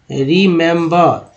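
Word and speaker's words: remember: री मैम रीमेम्बर रीमेम्बर, तो रिमेम्बर में तीन ई है, एक दो तीन, तीनों का अलग अलग उच्चारण हो रहा है, छोटी का पहला छोटी के रूप में, दूसरा जो है ए के रूप में, तीसरा जो है आ के रूप में, क्या पढ़ा गया है रिमेम्बर, क्या पढ़ा गया है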